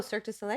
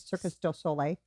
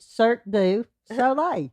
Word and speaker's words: Cirque du Soleil: Oh, Cirque du Soleil? Yeah. Yeah. I said it wrong once, and that's how it sticks in my mind. Circus du Soleil.